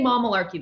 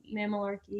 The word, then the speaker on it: Mamalarky: We say Mamalarky. That's how we say our name, but people say Mamalarky, which is also cool.